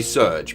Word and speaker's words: Serge: back end okay it's definitely meant to be surge because in Japanese it's it's uh ceruju I thought it might have been yeah like Sergey because you can have the gear that's also a valid Japanese character but yeah it's definitely